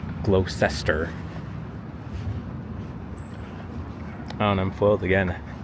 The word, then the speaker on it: Gloucester: it is I think it is no it's Gloucester Street which I wasn't sure how to pronounce it for I say glester oh and I'm foiled again thought I was